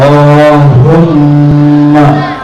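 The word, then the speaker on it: اللهم: arti allahum yaoba baca Allahumma Allahumma ya benar bacanya Allahumma Allahumma gitu itu mim ditasdik bacanya bukan Hum Ma bukan bacanyaimana Allahumma disambung allahumanya enggak panjang Allahumma bukan keliru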